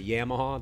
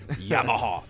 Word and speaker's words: Yamaha: Everybody makes fun of me because I say Yamaha. They're like, no, it's supposed to be Yamaha. They want me to say it like in the proper Japanese. You say it Louisiana style.